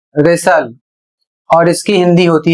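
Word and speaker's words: wrestle: अगला शब्द है डब्ल्यू आर ई एस टी एल ई। और इसे पढ़ा जाएगा रेसल और इसकी हिंदी होती है कुश्ती करना।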